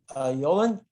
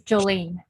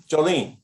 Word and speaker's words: Jolin: And so, Yolan, do I have your first name correctly pronounced? And yes, go ahead. Would you like to? Sorry, it's Jolene. Jolene, okay.